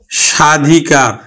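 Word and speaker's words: স্বাধিকার: সেটি আজকে আমরা শিখবো যদি পদের আদিতে অর্থাৎ পদের শুরুতেই যদি বফালা থাকে তাহলে বফলার উচ্চারণ হয় না যেমন আমি লিখলাম সাধিকার সাধিকার এই যে দেখো পদের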